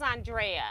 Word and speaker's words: Andrea: No, you pronounced his name correct. Thank you. Yes, I will. Oh, so it is Andrea.